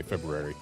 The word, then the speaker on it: February: Maybe it stole the R sound from what is supposed to be pronounced as February, but I always say February because there's an R there.